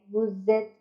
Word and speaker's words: vous êtes: And the tip is, when either verb is used with vous, then you have to pronounce z. Z. Like vous êtes.